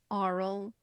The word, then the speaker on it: Arl: Arl, yeah. Arl. Like, it's spelled like aura.